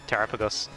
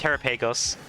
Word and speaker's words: Terapagos: I I always pronounce it as terapagos. Oh. Oh, I used to pronounce it as Terrapeagos and then people got mad at me cuz I said Terrapeagos and now I pronounce as Terrapagos and now I catch myself.